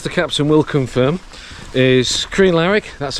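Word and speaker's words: Crianlarich: the plan as the captain will confirm is Korean Larrick that's how you pronounce it to bridge of orky now not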